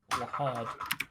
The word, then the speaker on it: Lhad: It's lad, but it's spelled LHAD. Wad. I like that. Lahad.